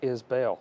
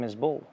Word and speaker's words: Isbell: But I mean, in everyone's defense, it is Isbell. It looks like Isbell. It really does. So how did it become Isbell? I don't know. Probably because we're from Alabama, and sometimes we mispronounce some things.